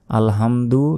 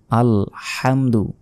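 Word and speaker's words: الحمد: আল হামদু আলহামদু নয় হামদু এখানে বড় হা রয়েছে গলার ভেতর থেকে উচ্চারণ হবে আল হামদু লিল্লাহি লিল্লাহি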